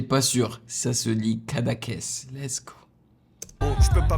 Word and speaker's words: Cadaqués: Yes, je suis heureux d'avoir réussi à prononcer le terme correctement parce que franchement, je n'étais pas sûr. Ça se lit Cadaqués.